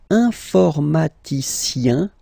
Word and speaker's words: informaticien: And the last group is I-E-N, informaticien, yin, yin, yin. So that's the way to pronounce this I-E-N, yin, yin. Okay?